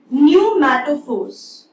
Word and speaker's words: pneumatophores: Such roots are also called as respiratory roots or pneumatophores. Fine. Pneumato, here P is silent.